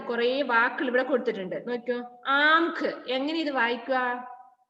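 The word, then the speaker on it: आंख: വാക്കുകൾ ഇവിടെ കൊടുത്തിട്ടുണ്ട് നോക്കിക്കോ ആംഖ് എങ്ങനെ ഇത് വായിക്കുക ആ എഴുതിയിട്ട് മുകളിൽ ചന്ദ്രബിന്ദു ഇടുമ്പോൾ ആം എന്താണ് ആം ആംഖ് ആംഖ് എന്നാണ് പറയുക ആംഖ് എന്താണ് ആംഖ് മീൻസ്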